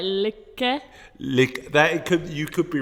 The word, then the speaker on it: lykke: So he looked at the Danish word for happiness, which is likey. I've pronounced that completely wrong, I think. Let me try on Google Translate. Lykke. It sounds more like lykke.